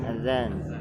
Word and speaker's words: Azan: Mau adan dulu, udah adan. Sekarang adan mana? Padahal yang dimaksud zat, bukan dal. Tapi apa yang bacanya? Adan. Tulisannya Azan.